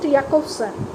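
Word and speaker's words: Jakobson: is the communication chain Roman Jack of sun okay pronounced yakovsan has given us a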